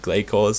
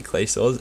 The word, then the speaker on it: Glacor: Also, I'm trying to get the pronunciation right this episode, for instead of Glacors, it meant to be clay saws.